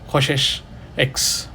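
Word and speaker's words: csch: defined we Define a hyperbolic cosecant function which is spelled as CS c h x KES X this is defined as 1 / sin x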